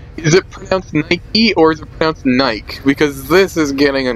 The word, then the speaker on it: Nike: it eat or death Naik because this is getting a no wait I'm telling you every time I've heard it in a big movie or anywhere else it's always been pronounced Nike and it wasn't just